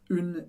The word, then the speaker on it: une: Perceba que tem o som do U, do biquinho, bem forte. Une. Mas eu não falo o E do final. A gente não diz une ou une. Não. Une. Une.